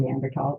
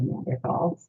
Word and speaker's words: Neanderthals: So the TH is pronounced just as a T scientifically. So that's why I'm saying Neanderthals instead of Neanderthals, because someone once criticized me for it at a scientific meeting.